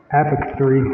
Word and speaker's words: apothecary: Once you know, you want to stress on the second syllable.